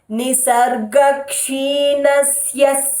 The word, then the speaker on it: निसर्गक्षीणस्य: Nisargak, hold the kshi is made up of, it starts with the syllable ik, so hold the ik. Nisar, roll your tongue for it, all those rules remain the same.